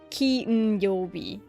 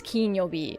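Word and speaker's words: 金曜日: And this is pronounced Kinyobi. This one is Kinyobi. I was looking at the pronunciation of this one. This one is Ki. Yo. U. B. Okay, can I? Kinyobi.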